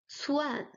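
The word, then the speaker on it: 窜: With the fourth tone, it's pronounced cuan, cuan, which means to exile, to banish, to run away.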